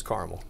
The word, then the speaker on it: caramel: hear Madison and I I heard carel or caramel it's caramel thank you that's why